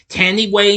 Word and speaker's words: Thandiwe: flashback sequences Ginger is voiced by how I pronounce it again Tandy Way new him formerly which you knew formerly knew